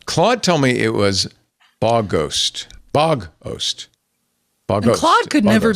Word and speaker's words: Bogost: Did you get a pronunciation guide? Claude told me it was Bogost.